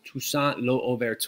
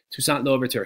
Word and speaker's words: Toussaint Louverture: this man right here his name's shushant no overt or pardon my horrible French pronunciation toussaint louverture he is the leader